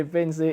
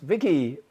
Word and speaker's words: Vicky: And by the way, Vinci is pronounced Vicky.